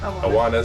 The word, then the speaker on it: Awanas: Is that how you pronounce it? Yeah, Awanas.